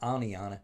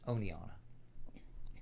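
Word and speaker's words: Oneonta: i hate to say it's not aniana it's oneonna it depends on who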